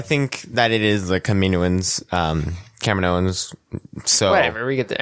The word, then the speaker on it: Kaminoans: Kaminoans. Yeah, that's how the right way to pronounce it is.